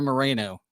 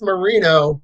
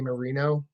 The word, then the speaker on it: Marino: Moreno or Moreno? Neither. It's Marino, but you're right because it's spelt that way. But I'm Italian, so I say Marino.